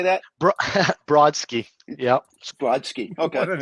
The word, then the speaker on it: Brodsky: Brodsky.